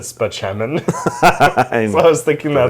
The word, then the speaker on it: Spaceman: his name was like his name was spelled out doctor Spaceman but he pronounced it speman so I was thinking